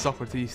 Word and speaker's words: Socrates: Everyone always grills me about it because I say Socrates. I think it's Socrates, the proper way to say it.